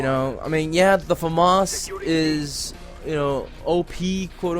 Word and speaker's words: FAMAS: probably posting gameplay with a Famas admittedly or Famas as it's properly pronounced I just say like